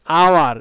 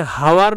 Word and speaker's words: hour: তাহলে an honest man, অ্যান আওয়ার, এখানে হাওয়ার নয় আওয়ার, আ আ আ উচ্চারণ হচ্ছে।